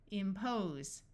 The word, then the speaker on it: impose: This S will have its second sound of Z, impose, impact, impress, impulse.